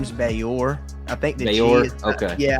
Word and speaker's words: Gbayor: Yeah, I want to say it's I want to say it's Bayor. I think the G is silent, but although I am not 100% confident in that.